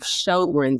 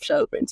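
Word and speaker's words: Sjögren's: So, turns out I have Shinron syndrome or spell that SJ O G R E N apostrophe S.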